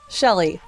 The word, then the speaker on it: Chely: Uh my name is Shelley, but it's spelled with with the C.